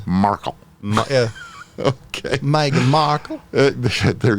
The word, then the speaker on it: Markle: So you emphasize the A? Markle.